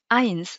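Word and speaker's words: eins: ولصقتها اي والا ا وبعدها اي عباره اي في النطق اي كيما اينس اينس هي ا معناها اينس كي بدها تحسب للمون تقول اينس واي واحنا ماشيين اينس و اي كيما كايزا كايزا هو القيصر ريت قلت اي اينس وكايزا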